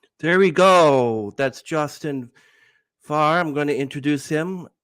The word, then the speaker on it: Fahre: It's a kind of a German word which means to drive. So but we say just Fahre.